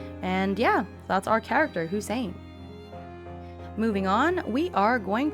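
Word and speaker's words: Husayn: I do like the way this is spelled. That's pretty. Hussein. Okay. H U S A Y N. Hussein.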